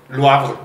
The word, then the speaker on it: Le Havre: Yo digo que es francés y es Le Havre. ¿Y si dice Le Havre, qué pasa? Que es, dice Rudy que es holandés. ¿Qué? Y es Le Havre. Ahí está, Le Havre. ¿Por qué? Porque ella sabe francés. Ah, no, también es Le Havre. Y le preguntamos a un francés, le dijimos, a ver, ¿cómo se dice esto? Le Havre.